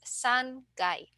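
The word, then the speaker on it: 三階: for GU so uh remember in frequency three times is just s Kai but for the number of floors the third floor is San guy otherwise the other uh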